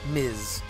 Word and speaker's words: Ms: it's ms or miss i know ms is pronounced miz technically but people are really